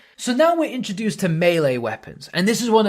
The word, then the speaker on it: melee: Oh, and by the way, that is the correct way to say melee. If you're one of those kind of say me or melee, then no.